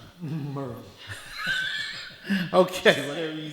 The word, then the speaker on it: Maryville: For those of you that aren't from East Tennessee, it's pronounced Merville. Merville.